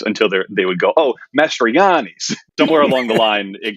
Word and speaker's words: Mastroianni: No, I pronounce it Mastriani. But I am well aware that the three vowels in a row is a real wild card.